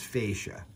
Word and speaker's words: fascia: battery packs it's f-a-c-f-a-s-c-i-a but i'm going to pronounce is fascia you might pronounce it differently but you know what i'm